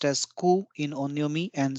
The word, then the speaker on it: 空: Sky heaven or imperial this character which is pronounced as KU in onyomi and Sora in kunyami May mean Sky vacuum emptiness or